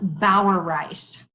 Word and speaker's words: Bauereis: easy one so I'm going to let you pronounce it my name is Bauer rice I would have messed that up completely so